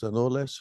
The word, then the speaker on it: anoles: anolis little brown anoli a a a n o l s anoles or something I think they're pronounced they're a Cuban